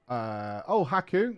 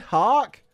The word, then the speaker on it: Haku: I got a name wrong. Haku. You know why that is? I read Hark.